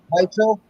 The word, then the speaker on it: Weichel: Daniel Weichel. Yeah, Weichel. And A.J. McKee. You say it like a V because it's got a belt coming up.